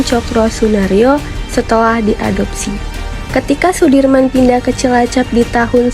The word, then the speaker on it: Soedirman: dalam memperjuangkan kemerdekaan Indonesia Jenderal besar Sudirman menurut ejaan saya Wandi dibaca Sudirman Ia merupakan salah satu